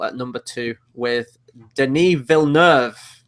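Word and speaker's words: Villeneuve: number two with Denis vilner which I've found out is the pronunciation I've been pronouncing it wrong since the dawn of time I think number one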